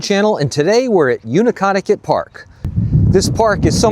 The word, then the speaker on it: Neutaconkanut: And I know some of you might be saying, Neutaconkanut, that's not how you pronounce it. And you're probably right, but that's the way I've pronounced it since childhood.